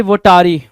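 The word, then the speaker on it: votary: वोटारी क्या होता है सर, या फिर कुछ लोग इसको वोटारी पढ़ेंगे, कुछ वोटेरी पढ़ेंगे, तो it depends up टू यू कि क्या प्रोनाउंसिएशन निकाल के ला रहे हो। वोटेरी भी ठीक है, वोटारी भी ठीक है।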